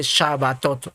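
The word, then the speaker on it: שבתות: reposo y acá arriba Cómo se pronuncia chavatot y en Amarillo también en el en la letra hebrea la que dice shabatot lo mismo lo mismo es plural de shabat es shabat y aquí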